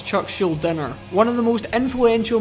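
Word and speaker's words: Chuck Schuldiner: Now, I have no idea why I pronounced Chuck Scheldinger's name with a G. It's not Chuck Schudinger, it's Chuck Schuler.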